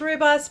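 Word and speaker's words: Rooibos: one that I would not be without is robust and you may not recognize it based on how I'm pronouncing it it is the South African tea it is pronounced robust but it is spelled Roo IBOs it is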